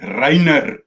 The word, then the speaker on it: Rayner: You got to pronounce it like Maryke would. Rainer.